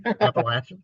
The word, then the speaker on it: Appalachian: to say it so I don't care appalachin appalachin yeah there you go so the Appalachian region